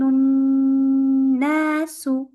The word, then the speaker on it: الناس: يوم يكون الناس. You heard how I insisted on the noon here? That's because it has a shadda.